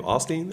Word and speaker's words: Osteen: of the hip hop that's how you say his name Osteen Osteen Oh something yeah like